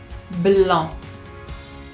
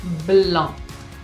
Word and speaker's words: blanc: Por ejemplo, blanc, blanc, de Sauvignon blanc, Sauvignon blanc. Y la C no se pronuncia, es muda, sépanlo.